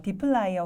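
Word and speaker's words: dplyr: 위한 강력한 패키지입니다 그다음에 요거는 어떻게 읽어야 될까 처음 단어를 보시고 고민하는 분들이 계실 수 있는데 어 디플라이어 혹은 디플러 이렇게 발음을 합니다이 디플라이어 같은 경우는 데이터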